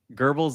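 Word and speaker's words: Goebbels: Gerbles like the rat, not gerbles like the ratina. It's a hard G, not a soft G.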